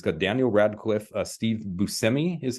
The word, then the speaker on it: Buscemi: And if you remember me talking about Miracle Workers, it's got Daniel Radcliffe, Steve Buscemi is how you pronounce it, correct, Craig?